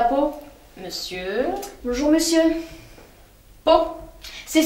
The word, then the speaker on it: Pau: Bah oui, Pau avec un P. Alors Pau. Oui, comme ça s'écrit, pareil. Pau.